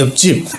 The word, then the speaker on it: 옆집: 옆집은 피읍은 방, 이형제죠. 피읍의 형제죠. 그죠? 그러니까 발음대로 하면 비읍으로 발음하죠. 옆집. 이렇게 발음하고 난 뒤에 구두방에 방하고 예사소리가 빵, 비읍하고 지읒이 빵 부딪히면 결국은 예사소리가 된소리로 난다. 옆집.